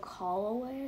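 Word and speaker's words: Callaway: Holloway, I think is how you pronounce it.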